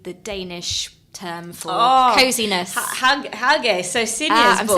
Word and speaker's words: Hygge: Hygge, so Sydney's I'm book. saying it wrong. No, I'm not. I'm saying it Australian wise. Yeah, that's Hygge.